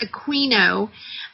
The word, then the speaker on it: Aquino: A book called Mind Wars, written by Michael Aquino, pronounced Aquino, Alpha to the Omega, ruled by negative feminine